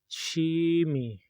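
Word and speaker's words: 취미: Chimi. Chimi. Our first syllable is a consonant ch, and then we use double consonant we, chi, me, chi me.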